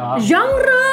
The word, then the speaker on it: genre: genre ya bacanya ya.